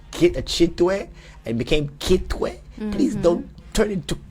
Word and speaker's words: Kitwe: Yeah, it's not Kitwi, it's Kitwe. Chitwe.